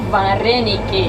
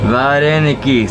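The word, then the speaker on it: вареники: Vareniki. Vareniki.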